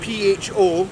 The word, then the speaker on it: pho: So in case some of you don't know, pho, spelled P-H-O, weirdly, but pronounced pho, is a traditional Vietnamese dish.